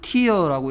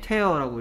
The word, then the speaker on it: tear: 이거를 tear라고 읽으면 눈물인데요. 네. tear라고 읽으면 찢다라는 뜻입니다.